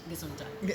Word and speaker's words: Gesundheit: Like, I know Gesundheit. Am I saying it right? Yeah, Gesundheit.